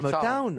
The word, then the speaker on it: Motown: Comment on doit dire Motown. Oui, oui, Motown. it's Motown, Motown. oui, je dis bien Motown. Oui, oui, oui. Les sanglots longs de Motown. Ouais. Town, you know, you have to pronounce Motown.